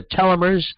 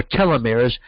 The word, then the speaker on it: telomeres: are telomers or telomeres you can pronounce it you know depending on where you come from it people pronounce it either telomers or telomeres but what they are